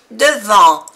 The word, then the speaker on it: devant: Devant, A-N, en. Es una vocal nasal en francés. En. Devant. La T no se pronuncia. Devant.